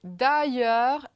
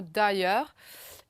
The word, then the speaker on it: d'ailleurs: Ensuite, de nouveau, c'est d'ailleurs, I, en I très très long là, dans le mot d'ailleurs.